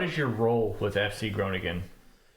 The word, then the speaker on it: Groningen: What is your role with FC Gronigan? So hopefully I'm pronouncing right um yeah you're good. Yeah, we've got the harder G so that makes it so that's hard to pronounce.